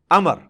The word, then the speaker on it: Amr: love love you लेकिन उसका मतलब भाव जो है वह साइलेंट होता है और बालों का मतलब यह कि आपने इसे पेश की बजाय जबर से पढ़ना है उम्र की बजाय पढ़ना है अमर तो हसरतें अमर बिना